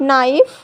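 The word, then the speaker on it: knife: जब के बाद एन आता है तो के साइलेंट होता है और साउंड केवल एन का मिलता है। जैसे यहाँ देखिए के बाद एन आया है तो के साइलेंट होगा, साउंड केवल एन का मिलेगा।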